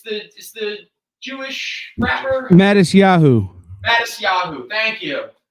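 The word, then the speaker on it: Matisyahu: How do I pronounce his name again? It's the Jewish rapper? Mattis Yahoo.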